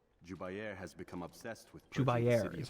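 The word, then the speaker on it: Jubair: Jubayer has become obsessed with Jubayer is how you pronounce this guy's name.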